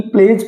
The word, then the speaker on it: pledge: PLEDGE, प्लेज, प्लेज यानी spot, जो हम स्पत लेते हैं,